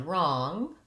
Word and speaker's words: wrong: And wrong, I'm going to rewrite this way, wrong. So the W is silent in both of those words.